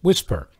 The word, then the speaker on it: WSPR: signal propagation reporters network or wspr pronounced whisper you might remember that